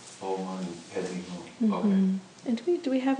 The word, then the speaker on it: Om Mani Padme Hum: Om Mani Padme Hum. Om Mani Padme Hum.